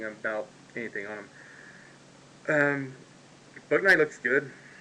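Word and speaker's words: Bouknight: anything on them um fortnite looks good I think that's the way you pronounce his name b-o-u-b-o-u and then Knight as in late night in shining armor so um yeah they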